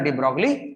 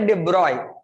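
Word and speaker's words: de Broglie: उसका नाम बेटा डी ब्रोगली नहीं था एक्चुअली। ठीक है, हम लोगों ने प्रोनाउंसिएशन के इजी करने के लिए हम लोग डी ब्रोगली बना लिया। ठीक है, उसका नाम था बेटा डिब्रॉय। ठीक है, क्या था? डिब्रॉय, नॉट डी ब्रोगली।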